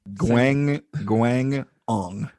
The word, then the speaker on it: Guangdong: Guangdong. Okay. That second G is with the first syllable.